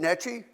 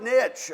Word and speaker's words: niche: am i pronouncing that is it netchy i'm still not getting it oh like nitch okay nitch okay so i don't pronounce that e on the end you know i've had